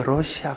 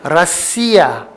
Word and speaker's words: 러시아: 그렇게 러시아 그러지 말고 라시아. 그게 진짜 본토 발음이에요.